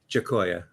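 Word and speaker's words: Giacoia: how do you say the last name again jakoa jakoa yeah he he'll be doing a few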